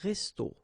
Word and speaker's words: resto: okay, but then, well, phonetically it's exactly the same, so un resto, okay, so whether with O or then with AU, but then it's resto, resto, the same way, okay, so un restaurant, un resto.